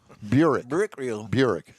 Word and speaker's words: Buick: Buick Regal. Actually, that's not very far off on the original pronunciation.